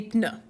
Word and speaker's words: pneus: So you're going to notice French in a word like that, des pneus, is going to pronounce the P. Well, we wouldn't pronounce that in English. So that's the same root word as words like pneumatic and pneumonia that sound like start with a silent P in English, but you'll pronounce that P in French.